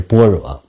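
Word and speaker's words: 般若: 般若还是盘若。我知道正确的标音应该是般若，不用在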